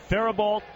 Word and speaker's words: Faribault: to this point 1-0 is low again to Faribault high school in Minnesota from the stretch 2-0 outside corner not spelled like you pronounce it bouncer to the shortstop